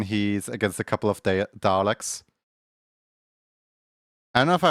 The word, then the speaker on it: Dalek: Like it sounds like you spell it like the way you say Dalek, you know, D A R L E K. Dalek, it's a silent R.